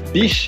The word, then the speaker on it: biche: So it's biche if it's a female, Biche!